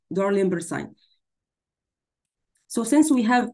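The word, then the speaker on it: Dalrymple: if you notice here, the word rim here, it's like sound, have the same sound like rim here in Darlimber signs, like in phonetics, so it have the same sound like the middle syllable here in this, again, once more, so rim of sclera. So we have Dar, again, rim. So I will write it down like rim in order to remember.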